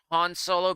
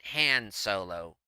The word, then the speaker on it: Han Solo: at the end though I'm still torn between Han Solo being Han Solo and hand solo cuz Lucas pronounces it hand solo like ham sandwich you know like a like like a uh like you would get off of a like with pork and ham he pronounces it h like a hand instead of Han like hans's grber he does IT hand